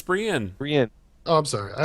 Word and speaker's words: Brienne: It's Brienne. Brienne. Oh, I'm sorry. I always call her Brahim.